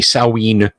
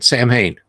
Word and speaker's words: Samhain: we could have done like a Samhain game or excuse me saween that's that's still weird